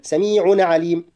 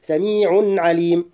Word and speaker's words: سميع عليم: امد الالف حركتين والله سميع عليم امد الياء في كلمه سميع حركتين كما لا احرك النون الساكنه المتولده عن التنوين في اخرها قبل نطق كلمه عليم لا اقول سميع عليم الصحيح سميع عليم قراءه الايه لا اكراه